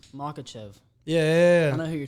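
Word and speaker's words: Makhachev: I can't pronounce his name. What's his name? Makachev.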